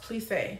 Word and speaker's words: plissé: All right, it's pronounced plissé.